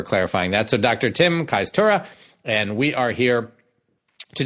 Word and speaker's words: Kajstura: Tim Kajstura.